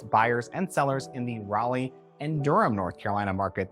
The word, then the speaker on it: Raleigh: have you thought about moving to Rally or Durham North Carolina whoa if your realtor pronounces those cities like that you should probably fire them my name is